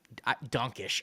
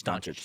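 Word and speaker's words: Dončić: I say Donkish. I know it's wrong. I know it's wrong. I know it's wrong. It's just how I've always said his name. I don't know why. Doncic. How do you say it? Doncic? I say Luka. I don't if I can't pronounce I don't know why I say Donk. I say Doncic like a freaking moron. Doncic. It's Doncic. There it is.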